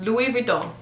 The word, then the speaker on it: Louis Vuitton: two three louis vuitton common sense vuitton that's how you say it i know it's it's that french thing i'm telling you louis vuitton we don't that part is like the lo that's that's where it kind of mixes up a little bit but that's how you say it louis vuitton the s is silent so it's not louis vuitton louis louie louis vuitton every time i see